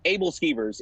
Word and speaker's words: æbleskiver: Æbleskivers. Æbleskivers. Who? Æbleskivers. Æbleskivers, if we're going to say it American style. Oh, all right, Æbleskivers. I look forward to going back up and having some Æbleskivers.